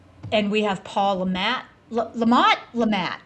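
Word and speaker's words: Le Mat: Lamont. Lamat. How do you guys pronounce that? Lamat. Lamat. It's It's how he says his name. Lamat.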